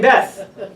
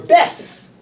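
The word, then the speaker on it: בית: It's very bizarre how in America, for some reason, they've taken the Teimani explanation, this pronunciation, when they call synagogues.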